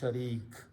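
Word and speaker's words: شريك: the sound of noon so the word is sharun actual Arabic word is sharun when we stop we pronounce sharik okay so this is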